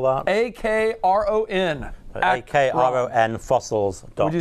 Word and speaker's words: Akron: a ministry some friends of ours up in akron ohio the akron fossil center and museum a